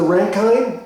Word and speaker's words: Rankine: zero this is the rankine or the ranking the ranking i think it's pronounced rankin measurement so this is